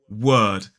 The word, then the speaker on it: word: not right world and this word is the same sort of word but without the dark l so it's W uh d word so this is world